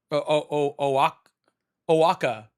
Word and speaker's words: Oaxaca: I don't know how to pronounce that. Oaxa? Oaxaca.